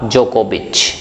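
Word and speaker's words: Djokovic: ठीक है भाई नोवाक जोकोविच क्षेत्र डी साइलेंट रहता है ध्यान रखिएगा है तो वर्ल्ड के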